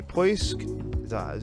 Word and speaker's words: Poisk: We also have a Poisk, that's how you pronounce it, which is a docking module.